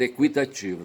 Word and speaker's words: equitativo: antes ali equitativo e colocava o trema para indicar, sabe, o sendo pronunciado, certo? Equitativo, tá certo? E se tirou o trema, mas eu creio que a pronúncia continua equitativo, certo?